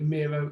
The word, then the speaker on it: Miro: they just remember that miro is your hero i mean that's how you pronounce it nice uh i've